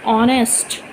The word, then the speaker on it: honest: So here the sound of H is not used. We are just saying honest.